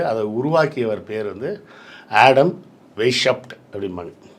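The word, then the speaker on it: Weishaupt: வருஷத்தோட கரெக்டா சொல்றேன் 1776வது வருஷம் உருவாக்கப்பட்டது அதை உருவாக்கியவர் பேர் வந்து ஆடம் வெஷப்ட் அப்படின்பாங்க அ அந்த ஜெர்மன் நேம் அ நமக்கு சரியான உச்சரிப்பு வராது வேஷப்ட் அப்படின்னு வரும் ஆடம் வேஷப்ட் இல்லனா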